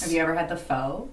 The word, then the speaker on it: pho: Technically, it's pho. P-H-O.